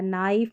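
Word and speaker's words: knee: KN भी हम silent में देख चुके हैं, यहाँ पर K साइलेंट रहता है। नाइफ, नी।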